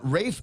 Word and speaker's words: Ralph: Rafe Fines. It's spelled Ralph, but he likes it pronounced Rafe is Ray.